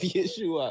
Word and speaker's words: Yeshua: They wanted, like he said in Yeshua, that's the true pronunciation of Yeshua, only Yeshua.